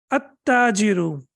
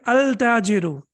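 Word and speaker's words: التاجر: At-tajiru. Do I have to pronounce lam over here? Can I say al-tajiru? Can I say that? Al-tajiru. Of course not. Why? Because after lam, we have tashdid.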